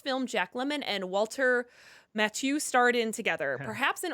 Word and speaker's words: Matthau: It's Matthau. Sorry about that. No, it's not one of those that's spelled really weird for whatever reason.